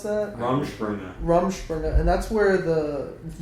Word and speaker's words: Rumspringa: How do you pronounce that? Rumspringa.